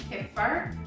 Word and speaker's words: kefir: I don't know how to pronounce this. Kefir, K-E-F-I-R.